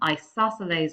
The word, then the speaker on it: isosceles: therefore all angles are the same size and isosceles triangle that's how you pronounce that one that means up two of